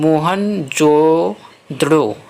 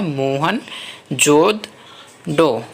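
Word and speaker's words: मोहनजोदड़ो: लिखा है मोहन जोदड़ो शब्द का सही उच्चारण है मोहन जो द्रो है तो दोस्तों यह उच्चारण है सही उच्चारण है मोहन जो डो मोहन जोदड़ो मोहन जोदड़ो तो दोस्तों सही उच्चारण यह है आगे देखते हैं दोस्तों सो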